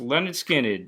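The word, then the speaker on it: Lynyrd Skynyrd: How about pronounced Leonard Skinned?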